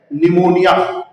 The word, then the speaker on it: pneumonia: See the spelling. It is written as pneumonia, but pronunciated as pneumonia.